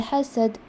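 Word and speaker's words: حسد: In the last verse, the emphasis goes on the letter ha. إِذَا حَسَدْ. No. Iza hasad.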